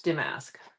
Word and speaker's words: damask: Okay, so it's Damasque. Damaskque. I'm horrible with the pronunciations.